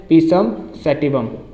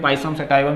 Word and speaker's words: Pisum sativum: पता पूछ ले आपसे, पीसम सेटिवम, ठीक है। बाकी आपका अपना प्रोनाउंसिएशन है, आप जैसा करते हैं, पाइसम सेटाइवम जो भी बोलते हैं, ठीक है, इस तरीके से।